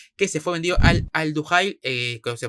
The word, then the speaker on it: Al-Duhail: Y ayer ya fue confirmado lo de Tuta, central brasileño, 26 años, que se fue vendido al Al-Duhail, que se pronuncia así, el equipo catarí, por 15 millones.